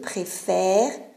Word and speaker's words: préfère: Ici, le E s'ouvre parce qu'il y a la désinence muette. C'est une règle de prononciation. Parce que si ici, je lascio questa E, non si può pronunciare bene. Si dice je préfère et donc ce n'est pas bon. C'est impossible. Je préfère. Donc le E ici s'ouvre parce que la désinence est muette.